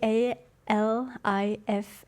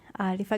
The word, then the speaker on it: Alif: not alif alif a a l i f a k alif so his name is Alfred but alif is the greenlandic way of pronouncing so it became his